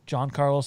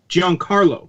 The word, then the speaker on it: Giancarlo: not it that it no that's not it giancarlo as in like giancarlo stanton one word oh john carlos okay